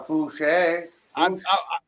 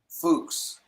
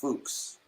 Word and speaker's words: Fuchs: Hey, guys, it's pronounced, hang on. It is actually pronounced Fuchs. Fuchs. Okay, I can believe that. I just looked it up. It's pronounced Fuchs.